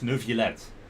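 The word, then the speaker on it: Neuvillette: pronounce his name but I just learned that the vi is not V it's V no villette because d double L adds to the you know pronunciation of the eyes so it's nuvilette oh seeing that you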